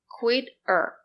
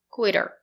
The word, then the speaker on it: quit her: Here, if you link the words, her is not an important word. We do not pronounce H, so we say Quit er. The letter T is between two vowels. We pronounce it as a fast D.